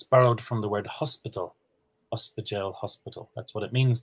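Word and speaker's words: ospidéal: As to Renata's example, there's one word I can think of, ospidale. Ospidale. That's spelled O-S-P-I at the start.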